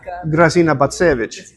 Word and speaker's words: Grażyna Bacewicz: I don't know how to pronounce it. You help me. Grażyna Bacewicz.